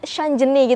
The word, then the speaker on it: Gladys Shanjeni: Ini bacanya Shanjeni gitu ya.